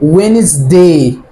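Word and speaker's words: Wednesday: حرف الان، حرف الان، ففي الحاله دي الدي سايلنت.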